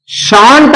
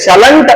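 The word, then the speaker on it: shan't: ಶಾಲ್ plus not ಅದು ಶಾಂಟ್ ಆಗ್ತದೆ ಶಾಲ್ plus not ಶಾಂಟ್ ಅಂತಕಂತ ಉಚ್ಚಾರವನ್ನು ಕೊಡುತ್ತದೆ ಶಲೆಂಟ್ ಅನ್ನಬಾರದು ಶಲೆಂಟ್ ಉಚ್ಚಾರಣೆಯನ್ನ ಮಾಡಬಾರದು ಅದರ ಉಚ್ಚಾರ ಶಾಂಟ್ ಅದೇ ರೀತಿಯಾಗಿ ಶುಡ್ ಪ್ಲಸ್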